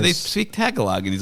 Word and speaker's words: Tagalog: too far from LA it just says it's pronounced Tagalog not Tagalog T yeah you that could be what check